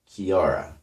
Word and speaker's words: Chiara: but in Italian it's spelled with a CH Kiara and I asked Joe